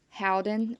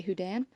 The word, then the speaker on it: Houdan: Okay, so this is called a mottled Howden, or some people might say Houdan. I actually used to say Houdan.